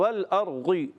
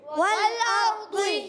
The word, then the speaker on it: والأرض: کا اپنا تلفظ ہے۔ اور بعض بچے غین جیسی آواز پہ بھی پڑھتے ہیں والارغی، والارغی، غی نہیں کرنا، والارضی، کیا پڑھیں گے؟ والأرض والارضی۔ والأرض ایسے لگتا ہے،